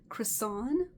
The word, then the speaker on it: Crissone: I wrote her today, and she tried to explain it, but her name is Addison Crissone. Kind of like croissant, but Crissone, and that's c r i s s o n e.